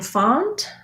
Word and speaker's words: font: with a consonant sound the letter o in font has the ah vowel so you might think of that as pha that might help you thinking it as an a font and then letter i